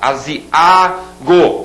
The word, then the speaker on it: aziago: Aziago, esse A sozinho é a sílaba tônica.